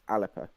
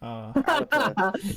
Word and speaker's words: Alba: They were relying on the support of the one Alba MSP, who is it's pronounced Alpa. Oh, isn't that Salman's party? It is Salmon's party. Alpa.